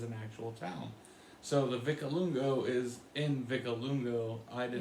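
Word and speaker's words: Vicolungo: And for people back home, I know Tony would always say Vicalunga, but with how it's spelled, it ends in an O. So we say Vicalungo.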